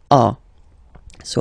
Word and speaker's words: as: Okay, and then a. So as you can notice, second form as is pronounced a, and this is a. Same pronunciation in both cases.